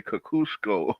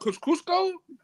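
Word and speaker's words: Kosciuszko: will try and say they've tried to say Kakusco. Why would Why would you say that though? I don't know. I don't know where I saw somewhere where they were saying that that that pronunciation like a Polish pronunciation of it. You know that what Cusco? Yeah. Well, you know what though? Take your ass back to Poland because we decided how we're going to say this street and we've been saying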